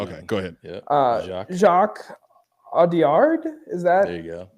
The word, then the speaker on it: Audiard: Here it's like it's just Audiard is probably good enough, but Audiard because it's Jacques. just you lose the last D in the pronunciation, but you got it.